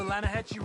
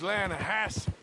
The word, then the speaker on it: Lanahassee: The other day, I rode down to the Lanahatchee River. I caught some beautiful steelhead trout. You mean the Lanahassee River? No. The Lanahatchee. It runs right near here. Yeah, but it's pronounced Lanahassee.